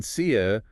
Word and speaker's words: said: And then sia, for both past forms, rhymes with bed or red.